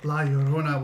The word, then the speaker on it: La Llorona: So like if kids misbehave, La Llorona will come get them. Yeah. You gotta say it like that too, or else she'll come and get you. For not saying her name right.